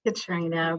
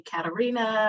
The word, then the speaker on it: Katrina: And my name is Katrina, but you'd be surprised at how many people just won't say it right. They'll look at it and call me Katarina or Catherine or something other than that.